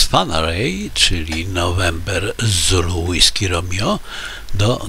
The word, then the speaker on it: Whangarei: który ma korzenie maoryskie okazało się że prawidłowa wymowa to fanaryj i takiej będę się